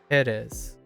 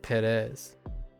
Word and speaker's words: Pérez: I'm putting the wrong emphasis on the wrong syllable there. Pérez, not Pérez.